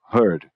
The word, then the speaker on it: heard: E aí quando eu acrescento D para fazer passado ou passado particípio, muda o som da vogal heard. Então heard pode ser ouvir